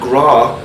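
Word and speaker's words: grá: And gra, and it's pronounced the same way, it might be spelled G-R-A-W in English, mm-hmm. but it's G-R-A, acute accent, mm-hmm.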